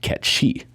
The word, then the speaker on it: Cait Sith: His name is actually supposed to be pronounced Ketshi.